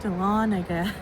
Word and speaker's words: Dahlonega: Dahlonega.